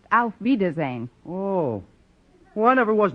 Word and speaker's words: Auf Wiedersehen: Actually, the word you have in mind is pronounced Auf Wiedersehen.